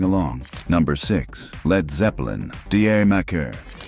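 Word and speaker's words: D'yer Mak'er: Number six, Led Zeppelin, Deier Mccer. A title that's a punchline. Say it like Jamaica and a track that plays dress up with reggae while keeping a doo-wop heart.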